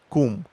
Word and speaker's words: cum: For example, the word in my country for how, it's come. More exactly, it's pronounced cum.